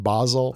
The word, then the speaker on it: Basel: trusted telegram at all I'm sure it's pronounced Basel and I'm saying basil because I like basil Bas yeah Basil's better